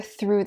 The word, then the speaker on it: through: Instead, your tongue starts in between your teeth, and you push air through them. And then your tongue slides back through your teeth into your mouth.